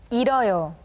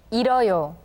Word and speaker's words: 잃어요: Well, in this case, the 히읗 sound becomes silent, so please listen carefully to how 선생님 pronounces the words. 잃어요, 잃어요, 달아요, 달아요, 끓어요, 끌어요.